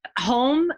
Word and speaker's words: HOM: Home, which is H for Helene, or Health, Healing, and Happiness, H-O-M, or just H-O-M. Om should be easy enough. So it's pronounced home.